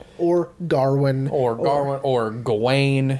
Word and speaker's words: Gawain: his name and i i believe the actual pronunciation is gawain because it's w-a-i-n just like my name being rain so i think it's gawain but this pronunciation we